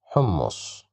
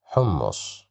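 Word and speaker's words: حمص: Okay, so the second word, we have dhamma, hu, hummus, hummus, hummus. Here we have dhamma, that's why we pronounce it as hu.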